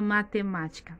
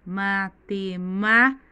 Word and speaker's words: matemática: E a palavra matemática, matemática. A sílaba tônica mais forte é o má.